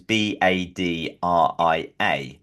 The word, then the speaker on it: Badria: Her name is Badria, which is Badria, and Okay. it's Arabic for moonlight.